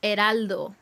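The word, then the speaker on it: Heraldo: Eraldo, that's his name in Spanish. Eraldo with H. Well, H is not pronounced in Spanish, but yeah.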